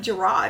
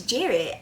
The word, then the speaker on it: Jared: I thought it was like Gerard or something like that. Like, I but it's Jared. I Obviously, I don't really pay much attention. I thought his This entire time I've been pronouncing his name as Gerard and it's Jared.